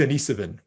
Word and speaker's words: Denisovan: that you use but it's denisovan it's like it's spelled like dennis the name and then iv denise oh o-v-a-n sorry so the denisovan were not